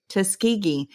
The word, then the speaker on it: Tuskegee: Is it Tuskegee or is it Tuskegee? And I said, it is definitely Tuskegee, Alabama. And then I proceed through the entirety of the podcast to say Tuskegee.